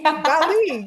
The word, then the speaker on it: Dali: Dali, yeah.